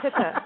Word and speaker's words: pitta: Nancy calls me a pita all the time, but it's a pitta, right?